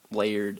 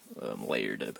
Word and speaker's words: Laird: Laird, I think is how you pronounce his name. Layered, I do believe, and they came up with a comic book.